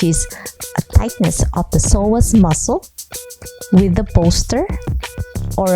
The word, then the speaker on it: psoas: little bit anatomy of the psoas muscle with a silent P so psoas is a